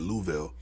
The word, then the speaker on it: Louisville: way the fuck up in Louisville, or how they say it, Louisville.